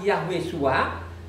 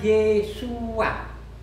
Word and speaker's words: Yeshua: Jadi Nehemia itu tidak baca lagi Yahweh Shua, tapi bacanya Yeshua.